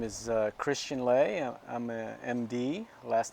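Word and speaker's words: Lé: All right, my name is Christian Lay. I'm a MD. Last name is spelled L-E with an accent above the E.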